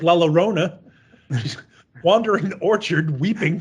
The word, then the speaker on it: La Llorona: all day, weeping like La Llorona. She's wandering the orchard, weeping for her children. Did I say it right? No. Are you mad because I didn't say La Llorona? Rona. La Llorona. Llorona. Llorona.